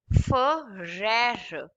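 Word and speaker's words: frère: This is called ferrer. Ferrer. E at the end is silent.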